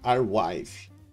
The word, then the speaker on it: Arweave: Se pronuncia WarWave.